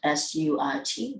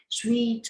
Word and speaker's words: suit: Second of all, must wear suit and tie, but in your recording, you pronounce the word S-U-I-T, that is sweet or sweet or something like that. No, that just say that suit.